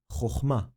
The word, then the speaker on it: Chochma: The syllable sound is Ma. Ma. The complete word pronunciation is Chochma. Chochma. Take a second to understand this. The kamatz looks the same but creates a different vowel sound.